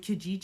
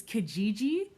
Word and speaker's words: Kijiji: neighborhood if you're not comfortable because like with Kijiji you can literally put like your postal code